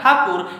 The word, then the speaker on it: ठाकुर: एक व्यक्ति महापुरुष रविंद्रनाथ ठाकुर, ये ठाकुर शब्द का उच्चारण अंग्रेज लोग ठीक से नहीं कर पा रहे थे, यहाँ से ले जाकर